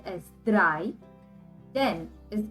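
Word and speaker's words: drei: so three plus ten three is called as dry then is called as then so dry which is 14.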